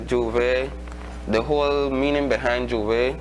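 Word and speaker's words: J'ouvert: Well, for me, I can say Juve, the whole meaning behind Juve, the word Juve itself, first of all, it is spelled Jouvert, or it can be spelled Jouvay,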